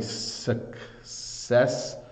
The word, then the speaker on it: successful: the pronunciation is definitely sucessful so what you have here is the first letter C suck makes a hard C Sound and the next C makes a softer C sound so sucessful successful um